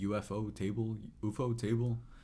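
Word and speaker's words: ufotable: how you say it, UFO table. It's pronounced UFO. But yeah, it says UFO and then table is the rest of it. I just don't know how you say it within the context.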